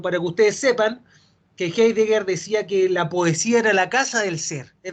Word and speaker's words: Heidegger: Ella fue alumna de Heidegger, se pronuncia en alemán al parecer, Heidegger, pero vamos a decir Heidegger, del existencialismo alemán, ¿ya?